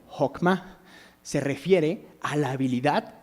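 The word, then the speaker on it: חכמה: y la podemos ver esta palabra se pronuncia como hma se refiere a la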